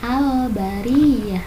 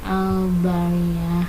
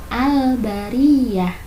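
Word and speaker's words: البرية: Nah, kalimatnya al-bariyah, dibacanya al-bariyah, tidak al-bariyah. Nah, alnya harus jelas, al-bariyah. Nah, seperti itu ya.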